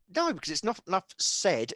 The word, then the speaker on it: Sed: description below yes said it's said it's different like sedimentary yeah as in the